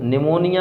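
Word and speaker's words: pneumonia: निमोनिया, English में इसको निमोनिया ही कहते हैं, लेकिन क्या होता है यहाँ पर पी साइलेंट होता है।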